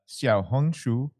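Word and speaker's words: 小红书: uh what oh a little red book uh xia hungu okay xia hungu okay it's a hugely popular social media app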